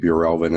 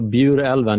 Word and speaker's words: Bjurälven: so tell me a little bit about project Bureau Elvin and how it came about and make sure For Heaven's Sake that I'm pronouncing it correctly as well yeah it is